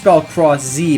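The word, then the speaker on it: Cross-Z: The new characters are Common Rider Cross from Common Rider Build Cross Z, but the Z is silent.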